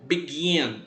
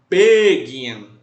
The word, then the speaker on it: begin: Próximo verbo, begin, começar. A gente não fala begin. O verbo ele é dito begin. O gin é a sílaba tônica.